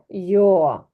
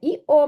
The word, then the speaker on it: yo: я в іспанській мові вони кажуть йо ми бачили оцю літеру і вона читається як і але коли в ці Вона може звучати як й не іо ми кажемо А Йо йо Так в українській мові